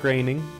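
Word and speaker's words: Groening: now disenchanted is from Matt graining that's how you say it and some other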